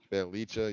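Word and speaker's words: Bjelica: Bielicha. Belicha, yeah, there you go.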